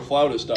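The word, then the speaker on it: flautist: Um, actually, if you are a floutist out there, that is the right way for to pronounce a person who plays the flute.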